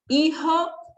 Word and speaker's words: hijo: Hijo, é com H, o H é mudo, ele não tem um som, e o J tem um som de R, então por isso que se fala assim, ó, hijo, hija, e madre e padre,